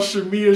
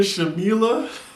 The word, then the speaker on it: Shamia: what did she do marlon's called shamia shamila and then now she means like stop saying my name with an l anywho porsche is seeing